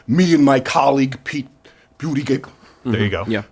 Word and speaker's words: Buttigieg: This stands in stark contrast to the Fox News town halls in which me and my colleague Pete Buttigieg There you go. Yeah. Correct participated pronunciation. Butt giggle.